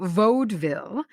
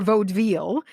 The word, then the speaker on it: vaudeville: Vaudeville is vaude to rhyme with loadville. So vaudeville or vaudeville.